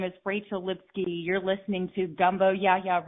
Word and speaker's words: Lipsky: my name is Rachel Lipsky you can find me at Rachel Lipsky com and it's spelled lips sky but it rhymes with whiskey you can also find